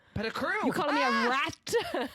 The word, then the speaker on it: Petticrew: If you can pronounce my name right, then yeah. What did I say? Pettigrew? Petticrew.